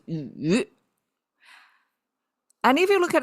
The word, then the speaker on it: 羽: And when we double that, the study or review, it become feathers and pronounced differently, pronounced as yu.